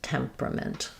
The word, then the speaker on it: temperament: too, because I'd say the spelling makes it look like it should be 1, 2, 3, 4 syllables. We don't have much vowel here at the end, and we condense those 2 syllables just to a pr instead of a pr.